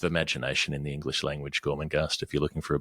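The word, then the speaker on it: Gormenghast: it but um just it's phonetic with with a GH in the in the second syllable the second G anyway you'll work it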